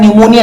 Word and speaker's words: pneumonia: निमोनिया जो है बेटा इसमें इसको इंग्लिश में जब लिखते हैं तो पी साइलेंट रहता है। निमोनिया लिखते हैं इसको।